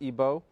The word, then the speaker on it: Igbo: comes from nigeria from the igbo tribe otherwise pronounced ibo and remy's a scholar